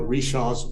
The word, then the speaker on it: Richard: frenchman john baptiste richards he pronounced his name every shot richards and they called it rishaw's bridge but the it was